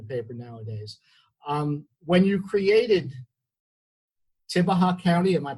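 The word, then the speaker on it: Tibbehah: When you created Tibaha County, am I pronouncing it correctly?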